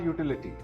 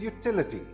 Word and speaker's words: utility: This word is not utility. The second syllable is stressed. This word is utility.